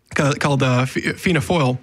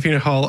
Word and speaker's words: Fianna Fáil: And then de Valera forms a party once he comes back called Fianna Fáil, which is, or Fianna Fáil.